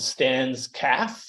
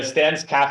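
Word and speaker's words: Stan's Cafe: in uh England called Stan's calf it's spelled the way that you would say Cafe but in England you call it a calf and so yeah stance calf has this really interesting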